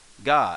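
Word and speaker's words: が: and key becomes gi cobb becomes gah as in lady gaga uh gone with the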